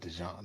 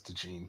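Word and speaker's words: DeJean: John or de Jean is he's not from Louisiana so it's not dejon it's de Jean probably de Jean yeah Cooper Dean Darius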